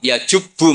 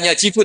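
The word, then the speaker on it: يجبّ: Terus Nabi ngentikan, "Alisu yajubbu maqoblah." Itu bacanya bukan yajibu tapi apa?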